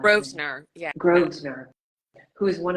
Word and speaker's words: Grosvenor: I don't know how to pronounce her last name. Grosvenor, yeah.